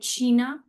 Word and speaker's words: China: China the spelling is same but we'll call it Shina.